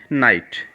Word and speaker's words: knight: Okay, next word है नाइट, और KNIGHT को भी क्या बोलेंगे, नाइट। NIGHT नाइट, KNIGHT नाइट। Okay, तो दोनों को हम क्या बोलेंगे, जो प्रोनाउंस होगा नाइट।